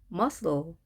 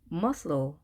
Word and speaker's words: muscle: muscle, muscle. 처음 단어를 봤을 때 muscle 하시는 분 계셨나요? 영어에서 자음이 이렇게 세 개가 나란히 놓이게 되면 대부분 두 번째 가운데 있는 자음은 발음이 되지 않는 경향을 띱니다.